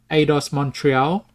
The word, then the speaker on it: Eidos Montreal: We've got Eidos Montreal.